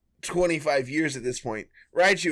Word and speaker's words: Raichu: years at this point raichu is right you yeah uh but like i i definitely could see how someone especially back then who isn't uh well versed in the pokemon universe could read this as rachu like and like this